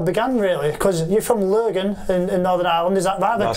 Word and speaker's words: Lurgan: how it all began, really, because you're from Lurgan in Northern Ireland, is that right? That's pronounced right, that right?